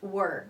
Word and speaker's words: were: The pronunciation النطق يختلف عن كلمة where, which is أين, and we use it for questions. But this is were, okay?